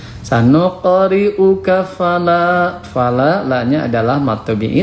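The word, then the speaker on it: سنقرئك: Selanjutnya untuk tajwidnya, sanuqa, ini qalqalah sugro. Huruf qaf itu huruf qalqalah, dibacanya memantul, tapi patulnya sedikit. Sanuqa, sanuqa, sanuqa. Karena kenapa memantulnya sedikit qalqalah sugro? Karena berada di tengah kalimat. Sanuqri'uka fala.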